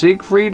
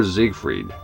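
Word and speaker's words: Siegfried: sigf freed or zigfrieded in this case it's German I'm not sure you know how how would that go all right let's go sig with like an ass sound as is written and he's saying zigg with it sounds like it Try spamming triangle.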